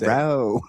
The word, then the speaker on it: Tyrone: Tyrone. Like, where's the accent? Where's the stress mark in that one? Neutron? Probably over the T. Got to hit a hard T on Tyrone.